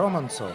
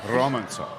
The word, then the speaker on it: Romantsov: Romantsov. Romantsov. Yeah, just Okay. you gotta roll your R's.